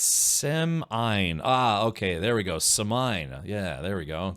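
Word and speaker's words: Semine: Uh, Blatty Pens says, "Why are you pronouncing it like that?" What? The town of Seaman.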